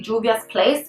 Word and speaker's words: Juvia's Place: It's supposed to be Juvia's Place, but in Spanish, it's always the J supposed to be like an H, so I think of Juvia's Place, but that's not what it is.